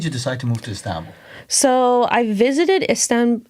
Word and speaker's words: Istanbul: I want to move forward to the part you decided to move to Istanbul.